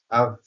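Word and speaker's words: of: আমরা এটাকে অফ উচ্চারণ করি, এটা টোটালি একটি ভুল উচ্চারণ আমাদের দেশে। এটার উচ্চারণ হবে আভ, এটা ভি এর মতো উচ্চারণ হবে, আর ওটাও আয়ের মতো উচ্চারিত হবে, সংক্ষিপ্ত আ। আমরা এই যে এই সাউন্ডটা দেখছি, এই আর সহকারে উচ্চারিত হবে আভ।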